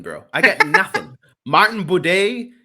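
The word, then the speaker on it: Buday: i got nothing martin boude his last name rhymes with bidet and for that reason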